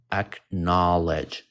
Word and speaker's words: acknowledge: how to pronounce it this is how you pronounce it knowledge so it's three syllables acknowledge acknowledge and acknowledge means what